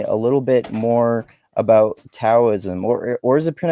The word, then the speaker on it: Taoism: or is it PR is it pronounced Daoism? I've I've heard it pronounced both different ways. It's I mean, it's technically it's kind of like between a D and a T, so it's sort of like close enough.